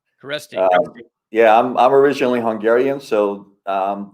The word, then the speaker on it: Kereszti: SZ is an actual letter. Okay. So, you kind of pronounce that way, but for most Americans, if you just forget about the Z, it's pretty easy.